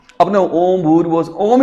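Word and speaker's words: ओम्: अ नहीं आएगा तो इसका उच्चारण यह नहीं करेंगे ओ मैं नहीं करेंगे तो इसका उच्चारण क्या करते हैं ओ ऐसे तो ओ के साउ हमने ये तीन मात्रा जोड़ी नहीं तो इसका उच्चारण कर देते हैं ओ मैं आएगा लेकिन अ नहीं आएगा ओ ऐसे ही बोलते हैं ना ओम भूर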